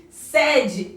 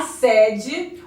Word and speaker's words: sede: É a mesma grafia, porém pronúncia diferente. E realmente aconteceu, a pronúncia é diferente, sede e sede.